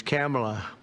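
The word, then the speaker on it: Kamla: No, sir, it's a little different. It's Cam, right? Cam, as opposed to Cam.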